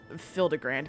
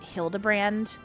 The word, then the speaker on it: Hildibrand: Since parting ways, I've searched every alley every alien dive bar in Everkeep for signs of this filigrand character. That's not his name, but okay. It's pronounced Hildabbrand.